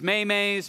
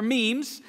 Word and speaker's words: memes: of you realize that you've been mispronouncing memes as maymays Mimi's for a little